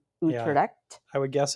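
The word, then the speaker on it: Utrecht: And I'm glad you pronounced their last names because you're more familiar with how to pronounce the names of people from Utred.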